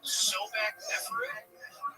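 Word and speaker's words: Sobekneferu: Yeah, the first female pharaoh, and it's about, now correct me if I'm pronouncing this wrong, Sobek Neferu?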